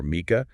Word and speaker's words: Mica: Both 3 syllables, both start with Mica or Mica, sounds identical. That Mica bit is clearly dominant. It's the first thing you hear, the part you stress.